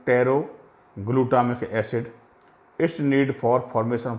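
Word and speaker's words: pteroylglutamic: और इसको बोलते हैं पैरों ग्लूटामिक एसिड पैरों को पीछे गए यहां पटेरो नहीं बोलेंगे क्योंकि यह साइलेंट पर पैरों ग्लूटामिक acid it's need for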